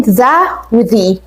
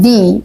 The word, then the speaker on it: the: او نصيحه للنطق بتاعنا الفرق ما بين ذا امتى تقول ذهب وامتى تقول دي كان نطق يعني هي الكتابه كلها واحده ذا مع الفتحه يعني كاننا بنفتحها كده لما يكون الكلمه اللي بعديها بتبدا بحرف ساكن اللي هم كل الحروف